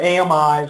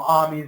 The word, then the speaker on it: AMI: machine instances and or amis or armies depending on who's pronouncing it and where you're at but the the machine